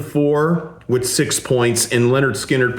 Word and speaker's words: Lynyrd Skynyrd: But good good for Leonard Skinnard for over the years, saving that for last, just like Kiss did with Rock and Roll All Night.